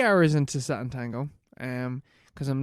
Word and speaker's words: Sátántangó: Sátántangó. Yeah, that's how you pronounce it. Yeah, Sátántangó.